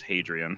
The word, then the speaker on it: Hadrian: I thought I was just mishearing you pronounce Adrian, but it really is Hadrian, huh?